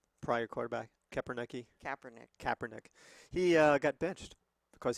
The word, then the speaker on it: Kaepernick: How do you pronounce the old guy's name? Prior quarterback? Kaepernick.